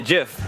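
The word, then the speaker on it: GIF: up a of a Jif from Futurama was with bender saying kill all humans jafek i call it a jiff dang because the G is silent or not silent it's a soft G oh my goodness not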